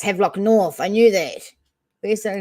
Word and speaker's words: Havelock North: the the uh have locked nor is it headlock north that's why it's havelock north i knew that where's that again have lock